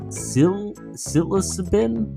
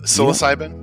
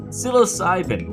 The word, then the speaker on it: psilocybin: quit entirely in the most rigorous tests of sil silicibin for alcoholism how do you pronounce that oh psilocybin psilocybin love it it's way better than what i